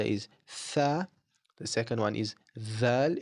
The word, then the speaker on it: ث: So looking at tha, like I said before, it is like pronouncing the th in the word teeth. It's a soft th.